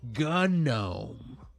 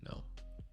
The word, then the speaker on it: GNOME: till the end of time it's actually it's pronounced gunome yeah you sound stupid I'm calling it no all right yeah ah let's go now